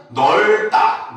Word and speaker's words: 넓다: 나머지는 넓다, 넓고 리을로 발음하는 건 똑같습니다.